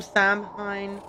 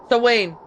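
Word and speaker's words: Samhain: She rules from Samhine. Sorry, how is this pronounced again to Belaine? So Wayne, that's it.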